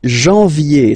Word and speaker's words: janvier: But anyway, janvier, so that's the way to pronounce it. Janvier, A-N, en, okay, and then ye, janvier.